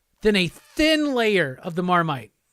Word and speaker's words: marmite: Yeah, why is it called Marmite? Marmite originally came in a small earthenware pot, similar to the kind of French casserole dish called a marmite, pronounced marmite.